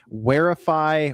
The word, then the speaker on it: Wherify: Parents can keep track of their kids with the Wearify watch. Now it's spelled WHERIFY watch.